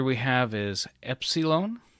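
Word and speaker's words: Έψιλον: letter we have is Epsilon and it is pronounced like the E and met after that we have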